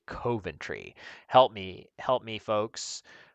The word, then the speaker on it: Coventry: Um, I think I said Coventry, but apparently that is incorrect. And you're supposed to say Coventry.